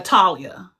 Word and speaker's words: Talia: And your your pronunci pronunciation of your name is Talia. Yeah. Talia.